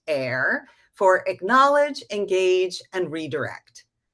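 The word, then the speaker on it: AER: i have another acronym a e r pronounced air for acknowledge engage and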